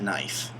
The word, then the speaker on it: knife: Jarvis why does it have that K there because it used to be connive it literally used to be connive but along the way probably teenagers decided hey wouldn't it be funny if we pronounce that knife and now we pronounce it that way and it's so old